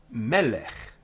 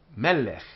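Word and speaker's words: מֶלֶךְ: The example, melech, melech, remembering the accents on the first syllable because it's two of these, melech.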